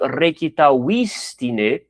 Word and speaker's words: recitavistine: Porque no latim, o acento tônico, ele vai ser, no máximo, na antepenúltima sílaba, ou seja, uma paroxítona, não pode ser antes disso. Aqui, no caso, recitavistine, então mantém, né? Recitavistine, não muda nada.